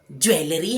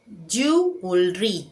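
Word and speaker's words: jewellery: क्या ये ज्वेलरी है? ये ज्वेलरी नहीं है। इसे एक्चुअल कहा जाता है जलरी।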